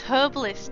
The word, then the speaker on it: herbalist: Yeah, but it's herbalist. The H is there. Pronounce it.